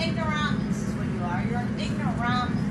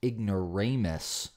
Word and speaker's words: ignoramus: don't understand you're an ignorance rums ironically I'm pretty sure that word is pronounced ignoramus don't believe me